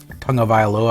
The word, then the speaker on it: Tagovailoa: Do they go with, I don't ever say Tua's last name because I'm afraid I'll mispronounce it. Tagovailoa, I think it's how you pronounce it.